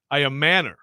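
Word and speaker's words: Ayomanor: No, we looked up pronunciation guides. Iomanor, right?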